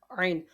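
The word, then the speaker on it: ع: Ain is pronounced from the middle part of throat.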